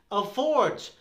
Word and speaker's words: afford: This one is afford. Afford. Oh, seriously? This is afford? Yes, it is afford. Afford, or even afford sometimes with a ah.